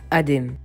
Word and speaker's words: Adam: Bref, moi les amis, je m'appelle Adem. Alors petite particularité les amis, c'est ça qui est drôle dans mon nom, c'est que je m'appelle Adem à l'oral mais ça s'écrit Adam.